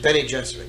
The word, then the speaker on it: Bene Gesserit: Bene Gesserit, you pronounce it? Bene Gesserit, yeah.